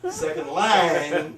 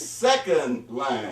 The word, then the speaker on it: second line: First of all, he said second line, when in fact it's second line. He put the emphasis on the first word, not the second word.